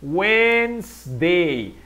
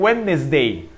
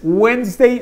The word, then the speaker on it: Wednesday: de más o menos la pronunciación la pueden así wins day hay personas que dicen wellness de puede ser sin embargo no es tan común entonces weinstein sería mucho mejor weinstein es wins de